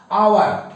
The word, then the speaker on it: hour: अब देखिए यहां पर यू है खाली स्थान और उसके बाद HOUR आवर है, जबकि लिखा गया है कॉन्सोनेंट से लिखे हैं, लेकिन उसका उच्चारण हो रहा है वावेल से, स्वर से अर्थात आवर, ये आवर, आवर, ये